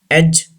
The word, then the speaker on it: edge: D is not pronounced. Badge, dodge, edge, hedge.